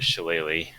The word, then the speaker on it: Shillelagh: So for the cantrip, I was going to do Shillelagh. Is that how you pronounce that?